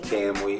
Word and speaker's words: Kamui: Cam Wee. Like Can Wee, but it's Cam.